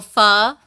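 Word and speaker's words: pho: So fur, it's spelled ph h o is the traditional Vietnamese noodle and it's a broth base.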